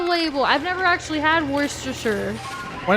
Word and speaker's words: Worcestershire: I don't know how to pronounce it I'll pronounce it for real what are other words yeah say for real Worcestershire really are you sure that's right yeah that's